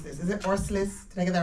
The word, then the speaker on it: Orslis: It's a real pleasure to be here, and I'd like to say thank you to, I can't pronounce this, is it Orslis? Did I get that right? Orslis, yeah.